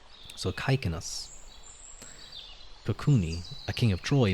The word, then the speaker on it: Cycnus: Caicnus. I've been pronouncing, yeah, I think Caicnus is probably, yes, because ancient Greek didn't have a soft C sound. I think it only had the hard C. So Caicnus.